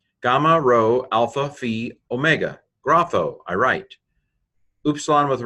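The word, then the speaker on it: γράφω: Gamma rho alpha phi omega, grapho, I write.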